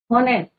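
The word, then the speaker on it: honest: आर, तो यू आर, कई बार बच्चे क्या कहते हैं? ऑनेस्ट, हावर, बट यहाँ पे क्या होता है बच्चों? एच is your silent.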